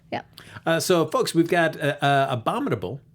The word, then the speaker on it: Abominable: So, folks, we've got Abominable, right, Amy?